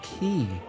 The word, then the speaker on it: quay: say this first decision it's pronounced key thank you very much